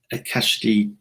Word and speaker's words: Akashic: And I can never pronounce it properly. Was it the Akashic Soul Training? Akashic Record.